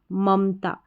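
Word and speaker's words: Mamta: में ए नहीं लिखेंगे अगर नाम का उच्चारण ऐसे रहता ममता तो तो हम एक और ए लिखते एम ए एम ए लेकिन नाम का उच्चारण ममता ना कि ममता ध्यान रखना उच्चारण के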